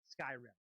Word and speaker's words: Skyrim: Joe, if you're listening, Skyrim or Skyrim? Skyrim. Okay, I was nervous.